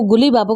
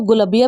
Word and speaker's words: Gullibaba: So guys कुछ students जो हैं वो गुली बाबा को गुलबिया भी बोलते हैं, तो आप कंफ्यूज ना हो, गुली बाबा और गुलबिया दोनों एक ही राइटर हैं, बस प्रोनाउंसिएशन की फ़र्क है कि आप उसे बोलते किस वे में हैं।